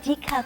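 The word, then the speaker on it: 디카: anymore, we call it Dika phone. And we've also shortened digital camera to pronounce it Dika, Dika, D-I-C-A, right?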